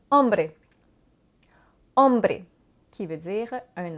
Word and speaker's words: hombre: Y es una letra muda. Donc, le H, c'est une lettre muette. Souvent, comme en français, c'est différent de l'anglais. La lettre va être là, on va tout simplement pas la prononcer, comme dans l'exemple hombre.